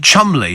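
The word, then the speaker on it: Cholmondeley: stas do you remember and Chumley for cholmley I always remember that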